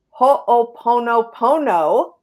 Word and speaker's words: Ho'oponopono: Ilene's passion and soul purpose herself are teaching conscious heart connection and ho'oponopono, I said it right, An ancient Hawaiian problem-solving process that's a simple but extremely powerful tool for healing.